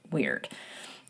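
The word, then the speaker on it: wyrd: And the Kelts held a really deep reference for uh what they called uh it's W Y RD which is pronounced as I understand it weird.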